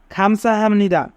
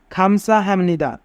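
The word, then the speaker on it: 감사합니다: কিন্তু যদি বিয়োগ বা চিমের পরে নিয়ম থাকে তবে বিয়োগের উচ্চারণ মিউমের মতো হয়। তাই এখানে বিয়োগের উচ্চারণ মু হবে। হাম।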